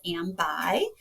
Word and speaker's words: AmBi: And so I stepped away from the leadership of AmBi, which later then became rebranded as AmBi, pronounced like I am bi.